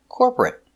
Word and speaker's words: corporate: T corporate corporate corporate two syllables not three not corporate two corporate corporate stress on the first syllable corporate corporate he works